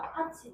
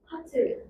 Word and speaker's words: 팥: 어, 팥죽할 때 그 팥이 발음해 봐. 파치. 어, 이건 파치가 맞지. 이거 발음해 봐. 파틀.